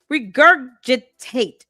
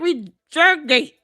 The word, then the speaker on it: regurgitate: Um, why do you keep mispronouncing this word? Stop using words with more than four syllables if you cannot pronounce it correctly. Regurgitate. Break it down. She said reurgate. Rejurgate. First it was regurgitate. Now it's reert regurg.